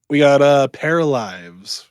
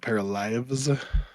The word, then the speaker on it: Paralives: Wait, we got Paralives, which I believe is how you pronounce that. Oh yeah. Yep. Like paralyze, but like Paralives.